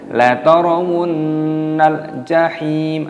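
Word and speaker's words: لَتَرَوُنَّ الْجَحِيمَ: La tarawunnal jahim. Taknya nunnya di sini berharokat tasdid, maka dimasukkan, didengungkan, hukumnya dibaca gunnah, berdengung. La tarawunnal jahim. Alif lam qamariyah, lamnya sukun dibaca nal.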